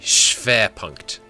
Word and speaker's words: Schwerpunkt: Oh, the W is pronounced as V. Schwerpunkt.